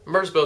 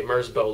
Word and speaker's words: Merzbow: To give you an idea of what I'm talking about, I'm gonna go ahead and show you a Merzbow live show. Hey, it rhymes.